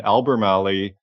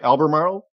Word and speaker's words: Albemarle: saying is beside you and Albert Mali am I pronouncing that right Albemarle yes they're on the adjacent to